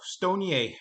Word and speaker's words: StoneCo: Moving on to StoneCo, Stonier, as it's pronounced in Brazil.